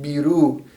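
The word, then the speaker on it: بيرو: So it's pronounced biru, biru. And this is the equivalent of Peru. Arabic does not have a P. And so it will often substitute the B as the P.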